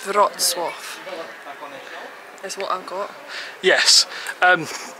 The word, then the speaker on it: Wrocław: There's a really hard pronunciation on this. It's Polish, and where are we off to? It's Wrocław.